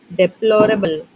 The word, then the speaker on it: deplorable: The word deplorable has stress on. Options are: Option 1. The first and the third syllables. Option 2. The second syllable.